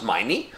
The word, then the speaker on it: Meine: Klaus, yeah, Klaus Meine, rhymes with money, has the vocal, the